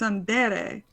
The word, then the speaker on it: tsundere: I'm not Definitely I'm not gonna pronouncing use it you wrong. as- It's Tsundere.